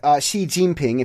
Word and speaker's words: Xi Jinping: just I'm just an observer well China's President Xi Jinping if you want to know how to pronounce it they're looking at removing term limits